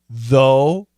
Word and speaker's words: though: Coach Shane, what's the pronunciation of the words thought, though, throughout? Thought, thought. It's an AW. Thought, though. It's a long O.